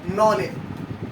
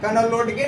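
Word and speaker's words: knowledge: तो अब हमने इसे क्या पढ़ना है, नॉलेज, सॉरी यहाँ पे हम क्या बोलेंगे, नॉलेज। कनोलोडगे नहीं बोलेंगे इसको, कुछ बच्चे इसको पढ़ने में काफी ज्यादा उनको दिक्कत सा फील होता है।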